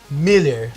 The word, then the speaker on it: Mueller: Então, @Miller, se escreve Mueller, que nem um shopping, né? Mueller com 2 L's.